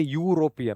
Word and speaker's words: European: When you say European, although e although the word starts with e and u both being vowels, it makes a y sound. Okay, this makes a y sound. Y here is a consonant sound.